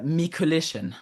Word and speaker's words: Mikuliszyn: It's uh Mikolition. Mikolition. Yeah. All right. Mikol. Oh, already blew it. Already blew it. Like like collision.